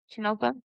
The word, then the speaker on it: Tonopah: The Clown Motel in Tonopah, sorry if I'm saying it wrong, Tonopah, Nevada.